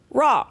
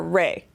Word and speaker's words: Ra: I said Isis and it was raw pronounced raw or ray.